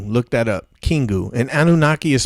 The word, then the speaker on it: Anunnaki: And Anunnaki is spelled Anu, like Anu is the chief deity, and Naki, Nnaki.